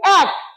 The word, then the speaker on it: এক: আমি গত ক্লাসে তোমাদের শিখিয়েছি এ ক, এই শব্দের উচ্চারণ হচ্ছে এক।